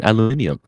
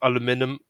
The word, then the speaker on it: aluminium: how you say it there are two correct ways aluminium is not in a quantum state of being both aluminum aluminum and aluminium it's not it's aluminium